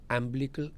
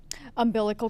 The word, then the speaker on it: umbilical: And my logic for diaspora is that I can't pronounce that word correct me. Ambilical cord. Umbilical cord.